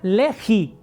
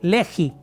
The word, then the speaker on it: legi: La segunda, legi, con G, legi. Y la última está igual como se oye, lectum, con C, lectum.